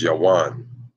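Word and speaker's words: Yavan: in the Bible is the Hebrew pronunciation for their name is ywan that's the Greeks is yawan okay and so let's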